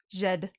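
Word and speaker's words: Djed: How would you So, pronounce this? Jed? does it say? Jot? Jed. Jed.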